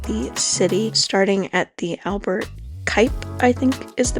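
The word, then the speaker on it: Albert Cuyp: the center of the city, starting at the Albert Kuip, I think is the pronunciation of that name, market.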